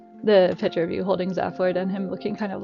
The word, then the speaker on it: Zaphod: That's how you pronounce the character from Hitchhiker's Guide, Zaphoid.